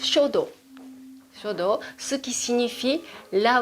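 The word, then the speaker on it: 書道: La calligraphie japonaise se prononce shodo.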